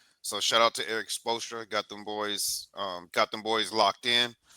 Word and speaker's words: Spoelstra: I'll just give I on when it comes to the Miami Heat, all the respect goes to Eric Spoelstra.